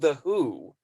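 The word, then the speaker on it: The Hu: guitar and whatever and they're called the who but the it's spelled hu when it's transliterated from mongolian and you should they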